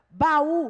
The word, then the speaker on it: baú: pronunciadas em sílabas separadas baú o encontro também de duas vogais pronunciadas em sílabas separadas e go está encontro